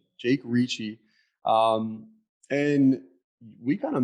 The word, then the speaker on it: Ricci: how do you say your last name richard richie jake ricci um and we kind of met like what